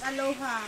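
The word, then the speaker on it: Alyoha: Aloha. Aloha. Yeah. But you pronounce it Aloha.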